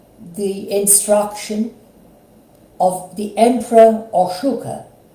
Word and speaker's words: Ashoka: instruction of the Emperor Ashoka, also pronounced Ashok by certain people, who ruled over India sometime around at 200 BCE, or at least BC. His life was dramatic. As a young prince, Prince Ashoka was extremely violent, brutal,